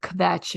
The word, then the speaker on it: kvetch: in a Jewish cultural way, this word of kvetch, if you never heard it, it's a great word. Kvetch, phonetically kvetch.